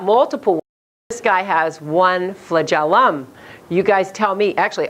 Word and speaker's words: flagellum: good everybody say it flagellum okay kind of like Magellan right flitted oh it's